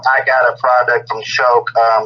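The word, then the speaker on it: Choq: just recently tried is called uh it's called choke so it's spelled c h o q and um go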